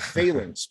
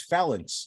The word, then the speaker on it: phalanx: only a great answer you taught me the correct pronunciation of phelans because my entire life i thought it was felons you know all good